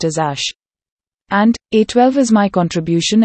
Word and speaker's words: Æ: x is just the letter x a is pronounced as ash and a12 is my contribution and it is just pronounced as a 12.